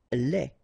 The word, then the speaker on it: lait: Lait. Un lait. Okay, so the only difference is the final thing here, they, you don't pronounce it, they, you don't pronounce it, so phonetically you only have this lait.